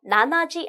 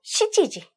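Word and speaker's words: 七時: 자, 그 다음에 7시는요, 나나지 안 돼요, 시지지.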